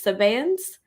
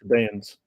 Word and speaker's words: Sabaeans: It's not it's and it's from this, how do I pronounce this one right without alluding to the other ones? Sabaeans? Sabaeans, yeah. Sabaeans. Sabaeans. Yeah, the other ones are Sabians.